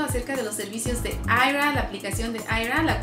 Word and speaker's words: Aira: Se escribe A-I-R-A, Aira.